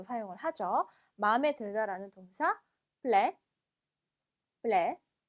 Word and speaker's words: plaire: 마음에 들다라는 동사 plaire, plaire. 자, 마지막 때 발음 안 됩니다.